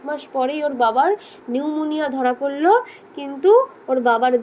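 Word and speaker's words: pneumonia: নিউমোনিয়া বানানটা দেখেছিস, পি দিয়ে শুরু, আমি কিন্তু নিউমোনিয়া বলছি না, হ্যাঁ, পি এর উচ্চারণটা সাইলেন্ট।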